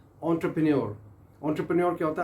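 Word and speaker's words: entrepreneur: एंटरप्रेन्योर ये French word है और प्रोनाउंस आप कैसे कर रहे हैं, एंटरप्रेन्योर। आपने रिपीट करना है मेरे साथ। ये मोस्टली हम यूट्यूब पे देखा जाता है, जो कि word main and women, ladies and gentleman, जो हमारे दोस्त यार हैं वो गलत इसको प्रोनाउंस करते हैं, इंतहाई गलत प्रोनाउंस करते हैं। दे प्रोनाउंस इट एज इंटरप्रेन्योर।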